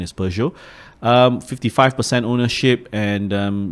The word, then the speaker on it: Peugeot: least Peugeot you know uh I used to pronounce them as Peugeot but actually apparently the the correct pronunciation is Peugeot um 55 ownership and um yeah Maybank for